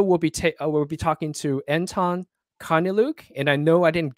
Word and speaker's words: Karneliuk: My name is Anton Karneliuk. It's how it's pronounced in the English, obviously.